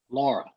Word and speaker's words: Laura: How do you say this one? Laura. It's that simple. People are trying to make it a lot more complicated, Nate. You're misleading us. NHC guide, it says Lura. Laura.